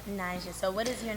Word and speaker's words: Naija: But the way she spelled it wasn't Arab. She was supposed to spell it Najah, but she spelled it Naija for pronunciation. Mm-hmm. But now I got a bunch of Nigerians asking me, am I Nigerian? Because I guess that's like a It sounds like Nigeria for Nigeria.